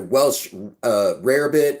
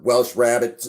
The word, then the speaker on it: Welsh rarebit: the what was a Welsh rarebit or Welsh rabbit it just depends on how you want to pronounce it and it's very old